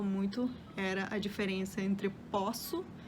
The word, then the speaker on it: posso: o verbo poder né eu posso e a palavra né o poço eu não conseguia pronunciar de forma diferente outras outras palavras que